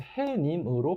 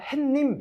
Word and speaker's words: 해님: 어떤 존칭이 들어가는 거라서 해님으로 발음이 나야 돼요. 근데 아마 발음하셨을 때 그냥 햇님 이렇게 읽으시는 분들도 많으실 거예요. 그래서 그 경우에 햇님이니까 이거 아니야 이렇게 해서 틀리실 수 있는 거겠죠.